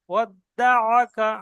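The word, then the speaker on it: وَدَّعَكَ: ওয়াদ্দাআকা আইনের উপর জবর আছে, পরিষ্কার হয় না।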